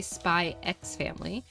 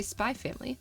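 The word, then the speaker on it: Spy × Family: We don't we don't pronounce the X. It's like when you look at spy family, you don't say spy X family, just say spy family.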